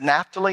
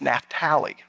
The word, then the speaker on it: Naphtali: We always said Naphtali until I went to Israel my third time, and the guide there was named Naphtali. I said, well, we always pronounce it Naphtali. He said, you're Americans. My name is Naphtali.